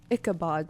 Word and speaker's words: Ichabod: Ichabod, that's how you say it.